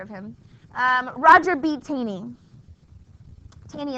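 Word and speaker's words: Taney: him um Roger bany tany is spelled t a n e y Roger be tany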